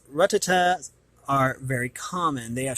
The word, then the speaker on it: Rattata: I used to say Rattata, but I can see here that it's Rattata.